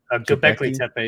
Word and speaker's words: Göbekli Tepe: Göbekli Tepe? Göbekli Tepe, yeah.